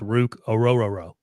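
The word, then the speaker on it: Orhorhoro: really help well I just looked up the pronunciation and it's Aurora Aurora I just want to hear you say that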